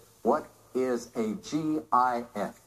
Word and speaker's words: GIF: You said, what is a GIF? Pronounced GIF.